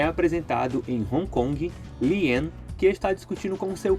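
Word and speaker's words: Li-en: A pronúncia do nome de Lian é a mesma coisa do americano para o japonês, tá? Se pronuncia Lian.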